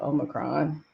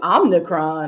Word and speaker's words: omicron: it's i'm saying it wrong but it's still omicron yeah nah um why is that word so hard for people to pronounce y'all omicron old macron yeah like it's not that difficult it's just somebody called it omnicron i was like jesus that's like a damn